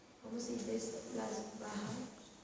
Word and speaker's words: Bauhaus: Las Bauhaus. Normalmente la H suena, pero supongo que porque en alemán se dirá así.